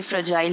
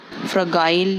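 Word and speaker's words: fragile: इसकी प्रोनाउंसिएशन ऐसे ही होती है, इसे फ्रेजाइल ही पढ़ते हैं, फ्रगाइल नहीं, या और कोई प्रोनाउंसिएशन नहीं है।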